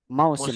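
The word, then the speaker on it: موسم: Musim Mausim itu bacanya bukannya tapi dari musim.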